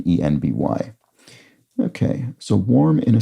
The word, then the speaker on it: enby: right, and then similarly NB for non-binary can be pronounced and written ENBY.